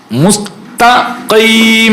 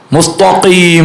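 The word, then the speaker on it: مستقيم: നിന്ന് ത്വാ ആയി പോകാറുണ്ട് മുസ്തഖീം എന്നാണ് കാഫ് പുള്ളിയുള്ള കാഫ് പുള്ളിയുള്ള കാഫ് അതിന്റെ അടുത്ത് താഹ് വരുമ്പോൾ നമ്മൾ ശ്രദ്ധിച്ചിട്ടില്ലെങ്കിൽ അത് എന്തായി മാറും ത്വാ ആയി മാറും മുസ്തഫീം എന്നായി മാറും അങ്ങനെ മുസ്തഫീം എന്നായോ എന്നുള്ള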